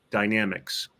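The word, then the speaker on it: Pterodynamics: The Naval Air Warfare Center Aircraft Division contracted a company called Dynamics. Dynamics is spelled with a P at the beginning, which is silent.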